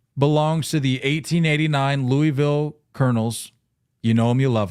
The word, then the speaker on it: Colonel: 1889 Louisville Colonels. Talk to me about that roster. Fire me up here. It's pronounced Colonel.